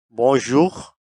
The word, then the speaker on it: bonjour: इसका उर्दू में प्रोनाउंसिएशन बोजख यानी सुबह बगैर नंबर टू बोसवा यह स्लाइटली फॉर्मल है।